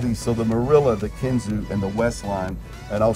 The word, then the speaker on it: Kinzua: I said, now one, how do you say Kinzua? Because it's spelled like Kinzua. Right. And they're like, well, you say Kinzua if you're not from Bradford.